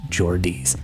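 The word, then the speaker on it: Geordie: So, again, Mojo, people from Newcastle are called Jordies pronounced Jordis.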